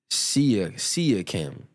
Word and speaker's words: Siakam: You said it's pronounced Siakam.